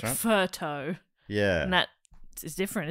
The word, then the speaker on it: pho: And pho as well, even though I think pho is not even pronounced like that, but it's like photo is one nearby to here. I think on Sydney Road there's a photo. But it should be like furto.